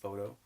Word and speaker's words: Foto: is called Foto, or I guess the American way to say is Photo. Um, I'm pretty sure he's pronouncing it Photo, but I'm saying Foto because it is spelled the way us Mexican motherfuckers spell photo in Spanish.